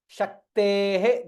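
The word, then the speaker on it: शक्तेः: Shaktehe. This is Visarga. Shaktehe. Ka and Ta. Both has to be heard clearly. When somebody is hearing, they should be able to hear both the letters very clearly.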